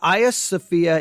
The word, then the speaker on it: Hagia Sophia: they are saying it I know it as Hagia Sophia that's why I've always heard it pronounced so just you know